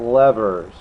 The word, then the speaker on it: lever: All right, so those are all about levers. A lever, a lever. Now, if you look up the dictionary, it's pronounced both ways.